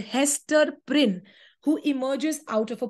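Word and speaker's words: Prynne: her name is Hester prin look at how Prince rhymes with sin okay there is a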